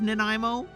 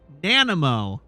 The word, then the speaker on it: Nanaimo: have never heard of Nanaimo, and I have heard all manner of mispronunciations of Nanaimo, but the one that stands out most in my mind is Nanamo. We have a story from Nanamo, BC.